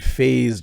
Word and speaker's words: phase: And phase, just more of a Z sound at the end when you are saying it.